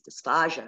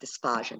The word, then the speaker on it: dysphagia: And it's pronounced dysphagia, not dysphagia with the G.